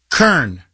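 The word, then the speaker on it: Koehn: Kern. You mean Cohen? Really? Okay. Well, however you pronounce her last name, Brianna Lungo. Mike says it's Kern. I'm like, there's no R in there. Anyway, Brianna Lungo Cohn is a rabid environmentalist.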